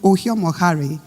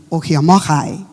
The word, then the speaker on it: Ohiomokhare: Um, you know, Josh tried pronouncing Oh Moari, but you know me now. I have to pronounce it right. Josh, take notes. My name is Okyomokai and I am the